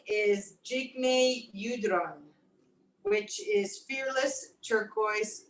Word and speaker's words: Jigme: name is um Jake is it Jigme or was it Jigme I wasn't sure Jigme I pronounced it correctly J that's Fearless glorious